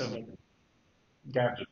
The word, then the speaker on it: Gajim: So it's Gajim. Okay, we can say Gajim. We're going to be the northern vowel.